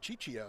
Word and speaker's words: Ciccio: He's calling him Ciccio. Ciccio. I know, Like that Cheech sounds- and Chong.